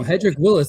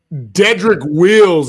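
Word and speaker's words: Jedrick Wills: Hedrick Willis, that's our new offensive tackle on the Bears, dude. Dedrick Wills is his name.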